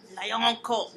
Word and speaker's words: Lioncart: It's a long name, but it's phonetically easy. Yeah, because it is exactly how it sounds. Yeah, LioNCaRt. a lion, an animal, and then a court.